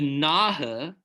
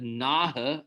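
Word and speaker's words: Nahe: then the false and the naha and that's how you pronounce that the naha n-a-h-e are famous for um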